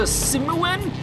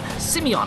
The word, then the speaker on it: Simeon: We're going back to Simuan. What's he called? Simeon. I keep getting the name wrong for some reason.